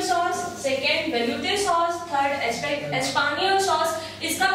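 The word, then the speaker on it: espagnole: First is vegetable sauce, second vegetable sauce, third espagnol sauce. इसका pronunciation है espagnol. बोलो espagnol sauce.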